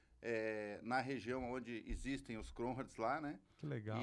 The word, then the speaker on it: Kronhardt: Legal, eu sou o Cronhardt.